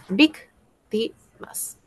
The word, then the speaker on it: víctimas: Victimas, ¿dónde tiene la mayor fuerza de voz? En la penúltima. En la ante tras antepenúltima. En la antepenúltima, por lo tanto es esdújula. Y si es esdrújula lleva tilde.